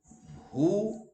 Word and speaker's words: who: it depends upon you where w is silent who now here h is